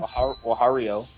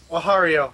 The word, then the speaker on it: Wario: Wahario. Wahario. That. Wahario. Okay, apparently I was pronouncing it wrong.